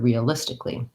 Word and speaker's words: realistically: may help you sequence that into this word realistically so i have short short long re uh